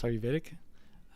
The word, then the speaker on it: Ayurvedic: I'm going to keep saying it wrong. Ayurvedic? Ayurvedic? No, it's Ayurvedic.